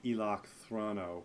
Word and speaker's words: Eloc Throno: Was there, and am I pronouncing that correctly? I think so. Yeah, it's Star Wars. You can pronounce it however you want, but yeah, that's how I say it.